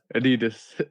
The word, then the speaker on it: Adidas: Well, I think it were more tennis shoes, New Balances, Adidas, or like we have to say, Adidas. I just work. I'm tweaking your pronunciation of Adidas. So Adidas. Yeah, and I remember, I think it was '83.